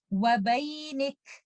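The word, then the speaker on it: وبينك: And in this example, when we are choosing to stop, remember to give hums for letter kaf. Wabaynik. Wabaynik.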